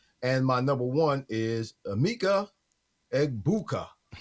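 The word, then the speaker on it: Egbuka: And my number one is Eggbuka. That's how you say his name. Eggbuka.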